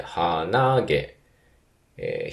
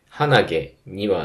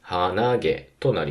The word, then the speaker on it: 鼻毛: 1番高いです花火一方ノーズの方の複合語は鼻毛とかなので鼻毛え引く高引くですかね花火と同じアクセントパターンにはならないですよねえ鼻毛にはならずに鼻毛となりますただ花火のアクセント